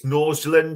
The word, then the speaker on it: Nordsjælland: Yeah, I'm probably going to butcher the name, but I think it's Nordsjælland it's pronounced, the Danish team so in the Danish Super League there.